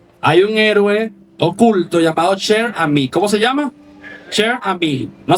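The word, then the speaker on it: Cher Ami: Hay un héroe oculto llamado Sher, ¿cómo se llama? Sher, no sé si se pronuncia así porque es francés y ese idioma es complicado, pero así se lee, ¿no?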